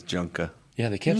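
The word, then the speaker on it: Junqua: There's actually a pronunciation guide on the website. Surprised you didn't know that. It's under roster. And it says how they say their names. So he says Junka.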